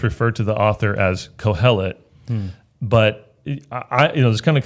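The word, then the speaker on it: Qohelet: That word is Kohelet. Kohelet with a Q. I don't know why it's spelled that way, but Kohelet.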